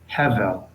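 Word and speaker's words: הבל: And because there are two segols next to each other, the rule is we accent the first, so it's hevel.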